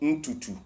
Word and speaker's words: ntutu: And so, hair is what we call ntutu. Ntutu. It's spelled N-T-U-T-U.